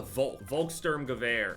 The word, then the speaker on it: Volkssturmgewehr: The way that it looks anyway, it reminds me of the Volkssturmgewehr. That's how you pronounce it.